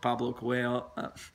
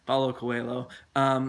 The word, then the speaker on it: Paulo Coelho: that's a fantastic book Pablo Quayle sorry I got the name wrong Paulo Coelho there with his book